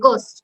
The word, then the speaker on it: ghost: যেমন আমরা কি বলি গোস্ট, ভূত, GHOST, বাট উচ্চারণ হচ্ছে GOST, গোস্ট, বা এইচটা উজ্জ থাকতেছে।